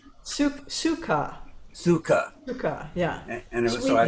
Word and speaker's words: sukha: Sukha.